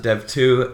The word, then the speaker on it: dev.to: We pronounce it dev2, and it's a platform for programmers to share ideas and to talk about programming.